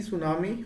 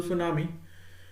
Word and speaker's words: tsunami: here that is t tsunami or basically t is silent here so tsunami okay if you are